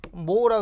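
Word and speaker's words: mho: 컨덕턴스라고 읽고, 우리 기호는 G, 단위는 오음을 뒤집어는 모라 그래. 모. 자, 그래서 우리 저항의 단위는 우리 누구 쓴다? 오음이라는 단위를 쓰고, 자, 얘는 우리 저항을 뒤집어 놨잖아. 그러니까 뒤서부터 거꾸로 읽어. 거꾸로 읽어서 어떻게 모라고 이렇게 읽더란 얘기야.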